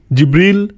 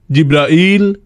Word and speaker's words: জিব্রাইল: জিব্রিল, জিব্রাইল, জিব্রাইল, জিব্রাইল, জিব্রিল, এই 5 ভাবে তার নাম উচ্চারণ করা হয়। আর এটা বিভিন্ন কিরাতের মাধ্যমে বর্ণনা করা হয়েছে। ইল মানে আল্লাহ সুবহানাহু ওয়া তাআলা, এ নিয়ে কোনো মতপার্থক্য নেই।